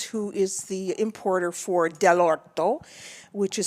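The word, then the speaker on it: dell'orto: friend in providence who is the importer for del orto which is spelled d-e-l-l apostrophe o-r-t-o which means from the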